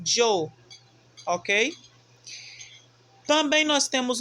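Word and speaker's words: yo: nós pegamos o i e o o e pronunciamos jo ok também nós temos o pronome tu só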